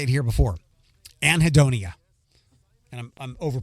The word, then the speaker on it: anhedonia: might have heard me say it here before anhedonia and I'm I'm over pronounciating that anhedonia a n he e d o n i